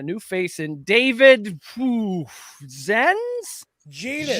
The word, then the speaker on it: Zenz: Genus. It rhymes with a certain body part. What? How do you say that, David? It's actually genus, although according to Jordan, it's genus. Genus.